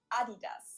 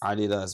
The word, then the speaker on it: Adidas: So, I didn't know that this was a German brand referring to because they usually pronounce it Adidas and in Germany we say Adidas. Adidas where I come from.